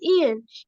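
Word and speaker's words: Iain: about me is that my name is Ian it is spelled i a i n a few words that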